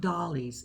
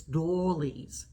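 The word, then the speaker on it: doilies: she was luring it's not dollies it's dolles so I said dolles and she say you crack me up I said well that's the only way I can say them to make it I'm pronounce it right it's dolles so you guys this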